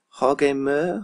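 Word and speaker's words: Jorge Meré: I think I've been... Jorge Mere? Jorge... I always call him Jorge Mere. I'll call him just Mer. So Jorge Mer.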